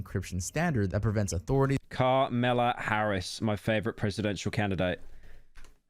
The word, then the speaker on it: Kamala: That's how you say her name, bro. It's how you say her name. Kamala Harris. Kamala Harris. Kamala Harris. Kamala Harris. Kamala Harris. I'm not saying come in me Harris. I'm not saying that.